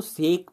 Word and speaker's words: sake: आप इसको सेक तो पढ़ेंगे आप समझने के लिए कि आप हो सकता है इसको सेक प्रोनाउंस करें, लेकिन इसका एक्चुअल जापानीज प्रोनाउंसिएशन बच्चों साके है।